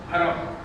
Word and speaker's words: حرم: حرم یہی تلفظ ہے جو میں بول رہا ہوں. جو تیسری سواری سرکار کو دی گئی اس کا نام ہے حرم.